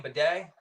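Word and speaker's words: Badie: of a bedet yeah is that his name bedet well that's how he pronounces it evidently so he's it's Tyler bedet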